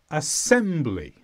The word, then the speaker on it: assembly: is assembly this is a noun and the stress is on sem assembly assembly means things put